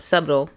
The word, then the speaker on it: subtle: and quick to anger Sub sub subtle subtle subtle right yeah it's a silent B oh do not meddle